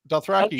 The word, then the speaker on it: Dothraki: He's most well known for helping create the Game of Thrones languages of, okay, I'm going to butcher these. Oh, God. Dothraki? That's right. Dothraki.